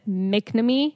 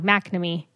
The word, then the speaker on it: McNamee: on I have McNamee I said it wrong McNamee yeah McNamee I wrote